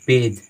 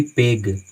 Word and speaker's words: page: उसी तरह से सेज, बहुत सारे वर्ड हैं, तो आपको कॉन्सेप्ट याद रखना है कि जब भी GE साथ में आता है तो हम उसका उच्चारण जा का करते हैं, ठीक है।